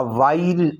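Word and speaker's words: while: में हम कहेंगे अ वाइल अगो। अ वाइल अगो, अ वाइल अगो। वाइल अगो में एच साइलेंट है।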